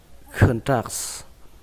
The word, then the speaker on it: contracts: Từ này các bạn đọc là contracts.